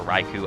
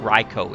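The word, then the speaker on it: Raikou: so here is ryko everybody you know says either reiko or raiku i kind of mix up the tran the uh translations but uh the pronunciations of him and i don't think it really matters all that much it's a pokemon but uh i think ryko is the actual correct pronunciation toxic riko is going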